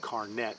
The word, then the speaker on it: carnet: got is called a carne it's spelled carnet but pronounced carne and it's essentially a